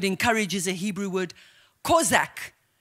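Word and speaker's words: chazak: This word encourage is a Hebrew word, kozak. You pronounce it kozak, but it's spelled C-H-A-Z-A-K.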